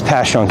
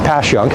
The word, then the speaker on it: Passyunk: and and this is pasun Avenue as a tourist would call it passun pass passun passun anyway it's passun don't ask me to